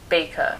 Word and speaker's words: Bakker: lecture from scott batter baker it looks like it's spelled backer but it's not don't be fooled b-a-k-k-e-r it's apparently spelled baker don't ask me we've